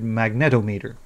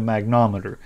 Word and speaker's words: magnetometer: I was calling it a magnometer. Apparently, I've never heard the word before and never read it correctly either. So, it's a magnetometer.